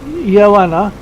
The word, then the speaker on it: Ioana: It's pronounced Joanna and from Canada.